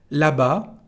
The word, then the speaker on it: là-bas: Là-bas, over there, we don't pronounce the S.